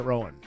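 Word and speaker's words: Roan: chapel rone chapel ran although I have heard it Rowan chapel chapel she says ran though she says Ron ran yes r r r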